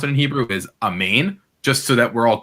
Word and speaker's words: amen: it in hebrew is a main just so that we're all clear it's not m-e-n it's actually like m-a-i-n so and you know